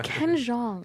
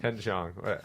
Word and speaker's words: Ken Jeong: It's Ken Jeong. Ken Jeong.